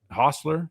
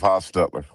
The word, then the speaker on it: Hostetler: Is that Hostler? Is that how you pronounce that?" Jeff Hostettler.